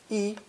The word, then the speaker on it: 一: For instance, when counting has a first tone, yi. But before first and second tone characters, it uses fourth tone, yi.